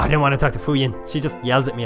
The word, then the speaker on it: Fujin: This is Fuyin, or Fujin. I think it's pronounced Fuyin.